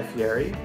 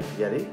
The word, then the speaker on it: Fieri: Guy Fieri, or Guy Fieri, depending on how you want to pronounce it.